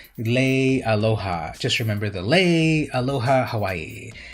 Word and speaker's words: Leialoha: I always say his name wrong. Leialoha.